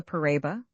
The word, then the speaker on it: paraiba: It is called the paraiba, pronounced in 4 syllables.